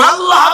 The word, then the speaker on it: আল্লাহ: আল্লাহ পাকের উচ্চারণটা হচ্ছে আল্লাহ পাকের নাম হচ্ছে আল্লাহ মুখটা একটু গোল হয়ে যাবে বলেন আল্লাহ [চিৎকার